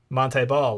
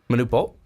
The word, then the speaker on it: Manute Bol: a bad comparison but like the old like Monty ball like he's he's not as big as him Manute Bol yeah thank you I was like my pronunciations